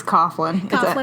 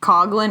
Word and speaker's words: Coughlin: It's Coughlin. It's an Irish last name. Okay, see, most people. This is like my Puerto Rican coming out. Like, I struggle with American last names. Most people pronounce it like either Coughlin or they spell it Cofflin, Gotcha.